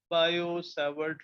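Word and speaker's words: Biot–Savart: Similarly, to find the magnetic field due to current carrying wire, we have another experimental law called as Biot-Savart. T is silent. Biot-Savart law.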